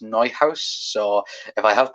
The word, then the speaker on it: Neuhaus: I know people on Twitter was like Newhouse, but I think it's pronounced Neuhaus.